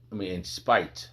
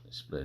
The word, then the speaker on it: spite: Split, not split, spite.